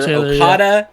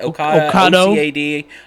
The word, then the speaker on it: Ocado: Kroger and actually a UK online grocer, Ocado, I guess is how you say it. Ocado. Ocado.